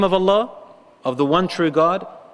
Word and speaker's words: Allah: in any other language if you say Allah Allah it has only one meaning and it's actually a name and it sounds like it's 2 syllabus a two syllable word a two syllable word